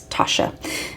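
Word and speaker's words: Taccia: I think Lindsay commented and told me the proper pronunciation. It's Tasha and she said she got it straight from their table.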